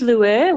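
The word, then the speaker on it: Lueur: So is it Lure or is that how you pronounce it? It is Lure, which I selected cleverly as a consultant that no one can spell, remember or pronounce.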